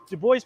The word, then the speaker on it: Du Bois: only perspective of the civil war as web do boys and yes i'm pronouncing that correctly comment people you don't have to comment on my pronunciation it's pronounced dubois that's how do boys pronounce it every time i make a video about